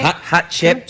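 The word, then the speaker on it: Hatshepsut: Lost Queen of Egypt hot Chef so can you say Hot Chip yeah that's good a chip suit yeah because most people can't pronounce and they say have chips that works too hot she pooped you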